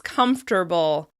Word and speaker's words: comfortable: Another word that we use all the time is comfortable. Comfortable. Instead of having 4 syllables, comfortable, the word actually has 3 syllables.